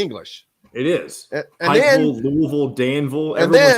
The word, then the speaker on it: Louisville: Say Louisville or Louisville? Louisville. I would say I'd give it like kind of a half hybrid. Louisville.